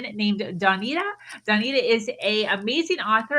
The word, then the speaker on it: Dawnita: So Dawnita, dawn as in the morning, and then the Ida on the end.